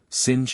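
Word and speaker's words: singe: same way he was taught to pronounce ape sing and tree ARB re he was a most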